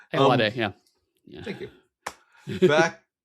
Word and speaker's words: Ayoade: So, all Yeah, right, a bunch of talk about Richard Ayoade. That's not how you pronounce it. Ayoade, yeah, yeah.